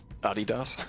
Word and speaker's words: Adidas: Adidas. Yeah, it's different than it's different than we would say. We would say Adidas in uh America, but I think you guys say it slightly differently.